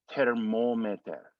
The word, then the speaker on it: thermometer: M-O is the next syllable, mo, ter, mo, M-E, me, and then T-E-R, ter. Thank you for this thermometer.